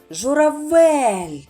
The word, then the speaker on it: журавель: На який склад буде падати наголос? Журавель. Так, на третій склад голосну е.